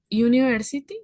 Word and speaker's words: university: de por qué cambia university. Acá la tenemos. A university. El sonido de Y en university, o bueno, hay un sonido de Y en university al inicio y es consonántico.